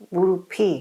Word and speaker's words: 무릎: 발음 어떻게 해요? 무릎이. 무릎이라고 발음을 해야 돼요.